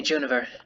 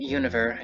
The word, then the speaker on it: Juniver: They usually call me Juniver. The second version, Univer, is for those who find it easier to combine two letters into one and then pronounce them all.